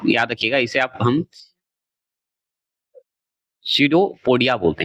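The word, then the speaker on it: pseudopodia: रखिएगा इसे आप हम सडोपोडिया बोलते हैं सडीपोडिया बोला जाता है अलग-अलग नाम होता है तो पी से उच्चारण होता है लेकिन बोला जाता है सडोपोडी सडोपोडिया बोलिएगा अच्छा लगेगा तोड़ दीजिएगा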